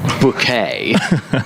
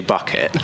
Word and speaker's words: Bucket: point but she she's called higher synth bouquet but it's actually bucket and most of the humor in that sitcom is built around people calling them buckets so I just if